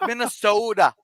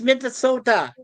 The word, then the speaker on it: Minnesota: that Hey, you pronounced it wrong. It's Minnesota. It's Minnesota. But I Turn really your like T's to D's.